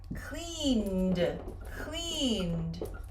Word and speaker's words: cleaned: Last week, I cleaned my house. Cleaned. Do not separate the syllables. Do not say cleaned. Cleaned. Put it together.